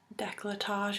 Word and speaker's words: décolletage: I can kind of buff it around my décolletage area, is how you pronounce it, and along my shoulders and my neck, and it just makes it really quick and easy.